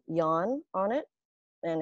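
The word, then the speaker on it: Jan: a the boy's name yawn on it and it's spelled j-a-n of course in german in german they pronounce it yawn like with a y and i feel like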